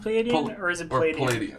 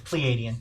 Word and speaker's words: Pleiadian: long behold is it is it pronounced palladium its Pleiadian Pleiadian we just haven't